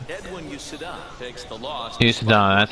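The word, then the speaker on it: Uceta: Usada, that's how you say his name, I forgot.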